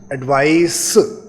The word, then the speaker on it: advice: I repeat the pronunciation, एडवाइस, ADVICE, और ये CE पर एंड होने वाले जो वर्ड्स होते हैं उनको एडवाइस इस तरह से एंड करते हैं, और ADVISE को बोलेंगे एडवाइज।